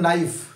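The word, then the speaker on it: knife: में आप पढ़ते हैं नाइफ या पढ़ते हैं नॉलेज, तो जब नाइफ और नॉलेज पढ़ते हैं तो वहां पे के साइलेंट हो जाता है।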